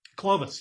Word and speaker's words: Clovis: Is it pronounced Clovis? Clovis, yes. Yeah, Clovis is an interesting character because he's been around a long time, and he's gotten over this hedonistic thing.